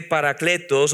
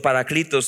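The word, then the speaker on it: παράκλητος: Es ese paracletos o paraclitos, depende de la pronunciación, es uno que es al lado y da ayuda, auxilio en los momentos difíciles.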